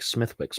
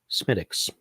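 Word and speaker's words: Smithwick's: the next one not bad one thing about smittix is that Americans tend to get the name wrong because it looks like smithwicks right it looks like smithwicks but it's pronounced smittix as far as far as the Irish are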